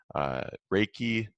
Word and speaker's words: Reiki: you also include crystal healing, prayer, intention setting, Reiki. Is that how you pronounce that?